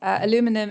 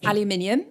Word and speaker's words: aluminium: for um british listeners aluminum is aluminium in case you're wondering oh thank you we pronounce it slightly differently um but yes it